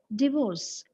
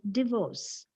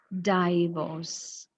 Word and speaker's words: divorce: on the first sound it is divorce and what is the commonly heard mispronunciation of that same word it is mispronounced as divorce you see it becomes D die it is this is it it shouldn't be pronounced with a dong but what we need